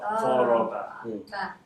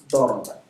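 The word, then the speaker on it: ضرب: Daraba. Daraba. Daraba. Oh, Zoroba. Dang it. I got the vowel wrong. Daraba.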